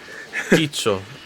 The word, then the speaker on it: Quicho: I don't want to butcher your name, but it's Quicho, see? It's Quicho? Quicho. Works the Quicho. same way. The way you pronounce it is a key, like a key, and Ki- then cho. Quicho.